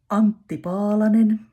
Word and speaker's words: Antti Paalanen: Then Antti Paalanen and name of the song is Takatukka.